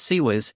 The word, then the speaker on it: CIWS: close in Weapons Systems CWS pronounced sez spread across the fleet